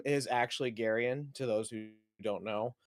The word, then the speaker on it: Garian: But um given that my first name is actually Garyen to those who don't know um I got